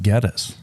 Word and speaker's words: Gettys: And Well, supposedly the family pronounces it Geddes.